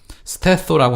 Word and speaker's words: stetho: 자, 그다음에 가슴이라고 하는 뜻을 갖고 있는 그리스어 스테소라고 하는 말이 있어요. STETHO. TH가 그 그리스어일 경우에 스 발음 난다 그랬잖아요, 그죠?